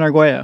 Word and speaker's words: Arguello: No, that's perfect. Arguello. Because in a certain language, the L's are Y's.